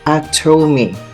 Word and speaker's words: Atome: Atome is pronounced Atome and stands for available to me.